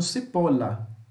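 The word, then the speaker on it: cipolla: que o som muda não aqui tem dois elles mas nós vamos falar com som de L então cipola se você falar com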